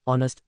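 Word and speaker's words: honest: women answer an explanation ऑनेस्ट starts we the silent H giving it a vowel sound ओ दस requiring the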